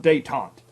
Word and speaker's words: détente: And it's spelled detente. All right? It's pronounced détente.